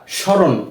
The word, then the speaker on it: স্মরণ: ফলার উচ্চারণটা আমরা করিনি আমরা স্মরণ এভাবে পড়েছি কিন্তু ম এর কোন উচ্চারণ আসেনি কেননা যদি কোন শব্দের